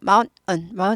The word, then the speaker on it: mountain: Anyway, 어쨌든 간에 mountain 하셔도 좋지만 더 고급 발음하고 싶다 하면 mountain 하고 딱 끊고 mountain. mountain, mountain, mountain, mountain, mountain 이렇게 되죠?